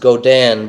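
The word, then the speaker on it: Godin: i n it's pronounced godan but a Goden um made in Canada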